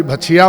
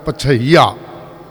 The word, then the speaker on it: पछैया: जब उच्चारण करन लग्या ना, कोई भछिया पढ़ता है, कोई कुछ पढ़ता है, तो उच्चारण है पछैया।